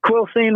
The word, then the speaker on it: Quilcene: your hometown Quil Quilcene is that how you pronounce it yep Quilcene Washington all right I had it written down